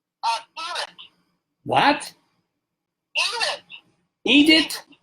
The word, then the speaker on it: Irit: Edith.